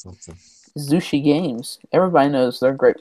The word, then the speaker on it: Zushi Games: Zushi Games. Everybody knows their great work. Sushi. Sushi. It rhymes with sushi. That's right. But it's spelled with a Z.